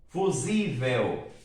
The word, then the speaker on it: fusível: Fusível. Sílaba tônica está aqui, penúltima, tá bom?